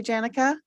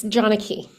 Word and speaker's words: Janaki: your first name correctly Janika very close janaki janaki okay thank you so Johnny